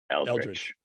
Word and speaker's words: Eldridge: You asked him how to pronounce it. Eldridge.